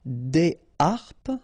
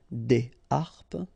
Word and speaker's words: des harpes: Des harpes, okay, so you don't make the liaison between the two. Des harpes.